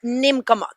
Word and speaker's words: Neemkomok: Yes, the name of the movie is Neemkomok.